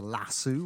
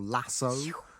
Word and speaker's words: lasso: Either into a whip or what we say in this country is a lasso or lasso, as you Americans say.